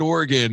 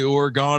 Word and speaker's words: Oregon: eye I I no because I've always said Oregon and then I've heard Dave say orgon and I heard you guys say it too